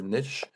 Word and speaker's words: niche: Uh, actually, it's a word we can pronounce two different ways, niche or niche.